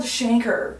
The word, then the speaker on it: chancre: fine uh-huh but yeah so it's actually called Shanker cuz I saw it I think it was